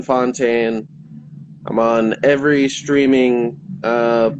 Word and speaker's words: Fountain: __ ] it so my name fontaine b-r-y and spelled like fountain uh fontaine i'm on every streaming